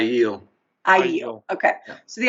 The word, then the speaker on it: Aiel: I call them the ale, and I know that's not right. Aiel.